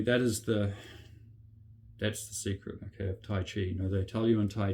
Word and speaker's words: Tai Chi: Tai Chi Chuan, okay, Tai meaning extreme, okay, Chi, or in English they may just say Tai Chi, but it's actually pronounced Tai Chi. Chi means a pole, okay, like North Pole or